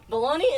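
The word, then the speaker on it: bologna: o l o g n a but it's pronounced bone no balone balone baloney is b a l o listen listen there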